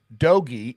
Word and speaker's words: DOGE: is one of the Doge guys dogy it's not Doge doge is crypto doy is the Department of Government hard G efficiency hard e dogy but doge is the